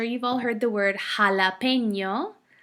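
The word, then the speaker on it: jalapeño: all heard the word jalapeno jalapeno starts with the J but it sounds like an H seem so happen s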